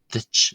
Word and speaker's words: duit: Uh finally for this phrase the T at the end of the is slender. It might sound to use something like an English uh ch sound as in church ditch ditch or similar to English word ditch itself a ditch but it's